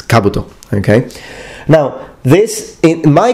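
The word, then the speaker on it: 兜: as you know um please notice that the accent is on the first vowel Kabuto Kabuto as we Italians tend to put the accent in the following vowel so we tend to say Kabuto but it's Kabuto okay now this in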